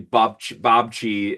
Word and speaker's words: babci: But yeah, it's called we say babci as like a Polish word for grandmother.